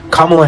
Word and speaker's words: Kamala: Pronounce it correctly. Kamla Harris.